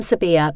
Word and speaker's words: Sabiha: It was the easier option because most Australians had to be taught to pronounce the H in my name, and then there was the deciding incident.